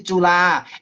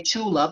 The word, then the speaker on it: Chula: I have some advanced very advanced learners who went to tula and they still say chula because why wouldn't they? It's spelled with a ch.